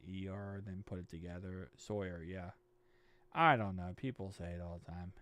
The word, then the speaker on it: Sawyer: Just rhyme it with lawyer. Sawyer.